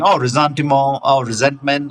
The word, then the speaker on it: ressentiment: Uh, but it's pronounced rzantimo. It's very different from resentment.